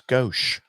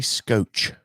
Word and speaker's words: skosh: agreeing with you that it's skosh i say scotch just a scotch i think it's german so yeah you said it wrong i don't know idiot